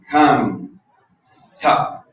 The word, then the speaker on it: Ham Sa: Ahorita vamos a decir otros aspectos, pero lo primero es el mantra Ham Sa. El Ham, no, lo estoy diciendo. H, se escribe así. H-A-M S-A-H. Ham Sa.